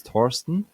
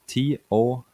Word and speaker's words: Torsten: sure my name is thorsten um it's spelled t-o-r-s-t-e-n it's um it's nordish name so it's pretty hard to pronounce when you're from the uk or the us torsten is that's right